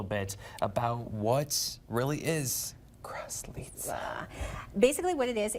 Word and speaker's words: Kraslice: of, I already forgot how to say it, Kraslice. Kraslice. Still can't say it. One more time. Kraslice.